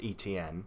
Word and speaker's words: Etienne: I'm going to end the bad karma because his name is pronounced Travis Etienne. So it's E-T-N.